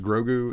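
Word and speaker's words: Grogu: can have where uh is it pronounced grou is that how his name is said I think it's grou yeah something like that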